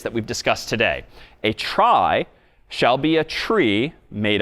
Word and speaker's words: trie: Well, let me propose that we try to get there, no pun intended, though I guess kind of intended, with tries, short for retrieval, even though retrieval isn't pronounced retrival. A try is another type of